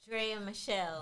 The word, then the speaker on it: Draya Michele: Draya Michele.